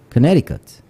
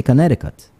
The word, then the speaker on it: Connecticut: what's the sea State Connecticut a lot of people go over there and they say connect ticket connect tiut but the tea in the middle is silent for those people so they say Connecticut so the moment